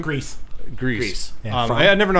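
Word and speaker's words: Gries: Jonathan Greers, is that his name? Grease.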